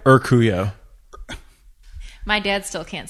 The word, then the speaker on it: Urcuyo: But, your last name is the hardest to pronounce name. It is impossible. So my full name is Urcuyo.